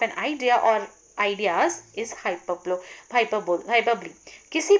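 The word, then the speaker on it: hyperbole: Last, इस video की last figure of speech है हमारी हाइपरबली, या इसे बहुत सारे लोग हाइपरबोल भी बोलते हैं, बट इसका करेक्ट प्रोनाउंसिएशन इज हाइपरबली।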